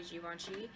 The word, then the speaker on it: Givenchy: Dahlia divine by Givenchy I'm saying it correctly Jiwon chi and it smells amazing it kind of reminds